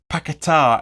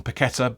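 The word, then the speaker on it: Paquetá: to which the brand new signing Luke Lucas pakatar as you're supposed to pronounce I know we all call him paquetta but it's he's his nickname is after the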